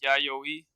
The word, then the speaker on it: Yayoi: Anybody know the proper pronunciation? If you don't, that's all right. Um, Yayoi. it is Yayoi.